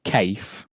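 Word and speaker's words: café: That e, in English as well, with the accent on, gives the sound a, because we don't pronounce cafe as cafe, which we would if there was no cafe-e on the end.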